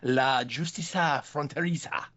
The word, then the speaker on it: La Justicia Fronteriza: Well, the episode in question again this is for the series The Walking Dead, Daryl Dixon, episode 3.4, La Justicia Fronteriza.